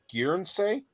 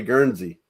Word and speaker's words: Guernsey: had an investigation called gear and say yeah you butchered it I I think you're trying to say Guernsey guerns okay I thought